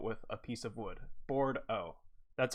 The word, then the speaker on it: Bourdo: It's pronounced Bordeaux. Like board as in wood and O at the end.